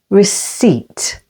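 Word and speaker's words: receipt: only in these words receip with the stress on the second syllable receip pterodactyl with the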